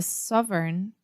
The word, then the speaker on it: sovereign: A lot of Portuguese speakers have difficulties with any word that has this EIGN combination, like foreign, sovereign.